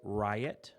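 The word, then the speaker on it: Ryett: picked three names for my son it was riot which is r-y-e-t-t pronounced riot ryot levi and alice so i literally just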